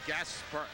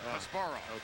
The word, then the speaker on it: Kasparov: And last week I heard Gary Gaspar, how do you say his name? Check that, Kasparov.